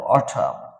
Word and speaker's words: autumn: N silent word, N এই সমস্ত শব্দগুলোতে N later will be silent whenever anyone will pronounce them. These are the words. এখানে N laterটা will be silent. autumn মানে হেমন্ত।